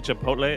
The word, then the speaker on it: Chipotle: pepper a chipot a Chipotle a chip chabra okay a chiple Chipotle I've heard many Americans call it chipot yeah it's very awful it makes me kind